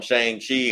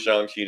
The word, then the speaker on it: Shang-Chi: just want to where they call him Shan shei I'm call him Shan shei woke Marvel won't change me you know Gonna Change not my Shang ch right they just gonna keep saying they're gonna double down they gonna lean into it no we're not going to do that if they say it's Shan Chi we're g to go with Shan Chi just move and